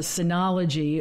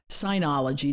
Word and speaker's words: Synology: that he would grant my request of a Synology, or a Synology, depending on how you want to pronounce it, DS220 Plus NAS system.